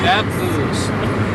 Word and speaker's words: Scappoose: Scappoose. Thank you. We're from Columbia County. We know how to pronounce it.